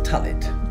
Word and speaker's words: Tullet: It's Tullet. Two L's, two T's. It just rhymes with mullet.